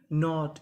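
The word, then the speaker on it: knot: के एन ओ टी नॉट।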